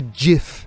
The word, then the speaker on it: GIF: gif or a gift it's definitely jif is it the man himself has who invented gifs has said gifs it's not a hard g see i didn't know